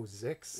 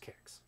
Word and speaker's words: 7iX: Pat says it's pronounced Kix. Kix. Okay, that's fine, too. Yeah.